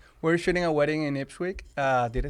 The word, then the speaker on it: Ipswich: We're shooting a wedding in Ipswich. Did I say it right? No. Okay. Ipswich. Ipswich.